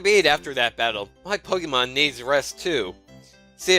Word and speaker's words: Pokémon: you have your own pokemon The Telegraph's won't be so threatening I think I alternated between saying pokemons and pokemons the correct pronunciation is Pokemon and like resume but still oh I